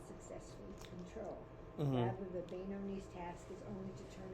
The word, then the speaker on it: Beinoni: Remember how to pronounce it. Beinoni. Beinoni. There you go. Okay, the status of Beinoni is attainable for all people.